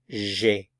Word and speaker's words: j'ai: I have, j'ai, j'ai. It's pronounced as one syllable, j'ai, j'ai.